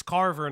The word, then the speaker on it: Carver: of small and mistake, it's Carver, not Craver.